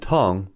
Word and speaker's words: tongue: Words like colleague and prologue are two-syllable words as the ending UE is silent. This is why league and tongue are one-syllable words.